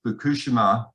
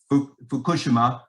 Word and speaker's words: Fukushima: I was invited to Fukushima, is how the Japanese pronounce it, not Fukushima, so it's hard to say it. Fukushima, to plan for the redevelopment of the economy after the triple disaster of 2011.